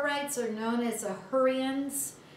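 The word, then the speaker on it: Hurrians: are known as the hurians it sounds like hurry up but spell it h-u-r-r-i-a-m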